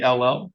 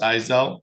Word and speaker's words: Ezell: All right, Miss, it's Izell, Ezell. Ezell, Ezell. Yep. and it's pronounced Izell, Ezel.